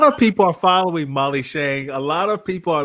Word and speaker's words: Tschang: It's a German spelling of a Chinese name, and the TS is silent. So it's a little tricky. It can be Tschang, but it's actually Tschang.